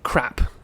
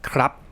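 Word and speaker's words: ครับ: sounds like you're saying crap in English, but the Thai, they're not saying the last consonant, they're just saying it as a dead syllable. So crap, not crap. Don't say the P.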